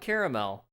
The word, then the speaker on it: caramel: well no it is it is spelled caramel anyone that ignores the second a is just wrong if that makes me